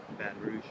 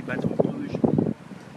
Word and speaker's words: Baton Rouge: I guess the correct pronunciation in French would be Baton Rouge.